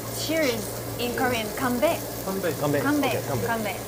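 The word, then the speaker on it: 건배: Kanbei.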